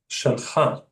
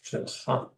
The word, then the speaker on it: שלך: So when you're addressing a guy, it's shalcha.